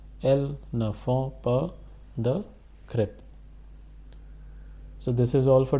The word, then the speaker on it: crêpe: Elles ne font pas de crêpes.